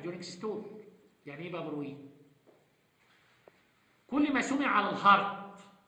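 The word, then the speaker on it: bruit: وعلى فكره في عندك تي ما بتتنطقش دي سايلنت. اوعى فلاحين في الامتحان تقول لي في بروت، مفيش تي دي خالص. بروي ده فرنساوي ماشي.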